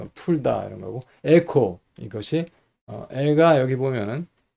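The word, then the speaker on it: ἔχω: 리오 지금 했던 거 풀다 이런 거고 에코 이것이 애가 여기 보면은 엡실론인데 기식이 연기식이에요. 그래서 해가 아니고 에로 발음했고 액센트가 거기 있습니다.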